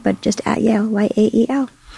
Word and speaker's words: Yael: but just at Yael, Y-A-E-L. How do you pronounce it? I say Yael. I know it's Yael.